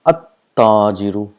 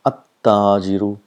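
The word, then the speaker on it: التاجر: It's at-tajiru, at-thawbu, ad-diku, az-zahabu, ar-rajulu, as-samaku. So this is how it is pronounced. The lam becomes silent.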